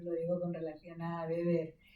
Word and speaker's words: Weber: Acordaos siempre, esto yo siempre lo digo con relación a Weber, acordaos de que la W se pronuncia como B en alemán y de manera diferente en inglés, como el inglés el inglés tiene tantísima presencia, Sí.